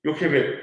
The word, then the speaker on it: 요케벳: 요게벳이라고 우리 개역개정에는 나와 있습니다. 그런데 이제 히브리 원어로 보면 요케벳이라고 발음하는 게 더 조금 적합할 것 같아서 저는 여러분들에게 요케벳이라는 의미로 발음으로 전해드립니다.